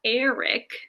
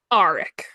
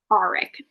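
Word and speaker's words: Aaric: Some important people to note is that we have uh, Cam or Eric Greycastle. Eric, is that how the audiobook pronounced it? Auric. Auric.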